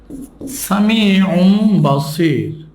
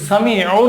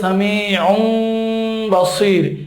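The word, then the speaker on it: سميع بصير: আমি আরেকটা উদাহরণ লিখছি, সামিউম বাসির। তানবিনের পরে বা আসছে, এখানে এই তানবিনের উচ্চারণটা মিম হয়ে যাবে। সামিউন আছে, বলতে হবে সামিউম বাসির, একটু গুণনা করে এখানে পড়তে হবে।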